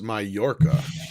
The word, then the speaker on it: Mallorca: pronounced Mallorca.